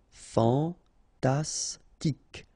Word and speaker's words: fantastique: Fantastique, okay, Q-U-E at the end, K, okay, tic. Fantastique, fantastique.